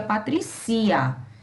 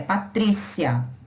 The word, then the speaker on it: Patrícia: Esse I e A, eles formam uma sílaba só, senão seria Patricia. E não é Patricia, é Patrícia, tá?